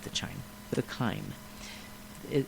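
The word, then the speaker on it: chyme: uh the chime or not the chime the Kime it it's spelled CH H ym but it's pronounced Kim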